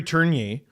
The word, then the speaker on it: Tourigny: And Andre Tourigny. Torigny. Is it Tourigny? No, I just said Oh, I know it's spelled Tourigny, but every time I said it